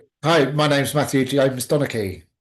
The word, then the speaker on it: Matthew Donnachie: Hi, my name's Matthew Donaki.